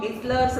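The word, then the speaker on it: Gessler: देखो mister गेस्लर, गिस्लर है उसका प्रोनाउंसिएशन।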